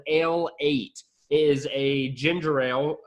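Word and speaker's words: Ale-8-One: Also, you could also pronounce it a late one if you didn't want to call it Ale 8.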